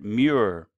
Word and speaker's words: Moyer: reason peculiar to themselves cannot pronounce the name Mauer the old-timers will remember william Mauer and especially his son Ross Mauer but not by that name Mauer it pronounced just the way it's spelled by the neighbors of the Madeline Plains in the Lassen County pronounced it mirror or mirror anyway just to set